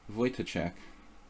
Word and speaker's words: Wojtaszek: Alright, so I've been mispronouncing it. Good to know. Wojtaszek.